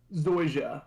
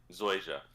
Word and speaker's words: Zoysia: it for me please Zoysia like the like the grass okay Zoysia so I trade off